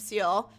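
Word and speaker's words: Ciel: a young boy named seal its seal right yeah that's how I pronounce it in my my head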